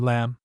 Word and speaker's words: lamb: Thursday we have a number of words containing a silent b. Notice the spelling of the following words. Doubt debt dumb limb thumb lamb. Friday.